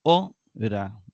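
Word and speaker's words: ὥρα: Luego tenemos ora. Igualmente lleva un acento agudo en la penúltima sílaba, ora, ¿verdad?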